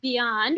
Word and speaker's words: BIJAN: their loved ones and while our acronym appears as beyond we often pronounce as bijan we often pronounce it as beyond which is our nickname